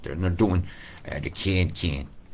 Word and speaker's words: Cairns: And they're doing the can. AIR is pronounced air. And if I put a C in front of it, it should be Cairns, right? Cairns. But you like it being curled like that.